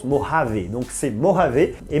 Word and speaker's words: Mojave: beau j'avais un en français mais ça se prononce mojave donc c'est mort avait et meaux avait plutôt